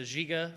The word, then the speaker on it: JYGA: We're based in Quebec, Canada, hence the the JIGA French pronunciation.